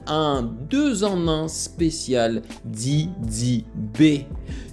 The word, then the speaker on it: Didi B: de en un spécial did B D B yes toi-même tu sais j'aime bien le prononcer en anglais le B de Didi B OK et je dis